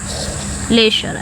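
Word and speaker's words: leisure: खाली समय laser laser इसको लेसर पढ़ा जाएगा यानी कि एस एच है अगर इसको ऐसे पढ़ेंगे एल ई एस एच ई आर लेशर ऐसे कुछ करके इसको पढ़ा जाएगा प्रोनाउंस किया जाएगा ओके स्लंबर स्लंबर मतलब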